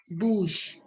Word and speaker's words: bouche: So mouth is pronounced as bouche. See, it is CH, so we are saying bouche.